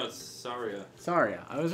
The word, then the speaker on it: Saria: Soraya's tune? What was it? How do you say your name? Saria.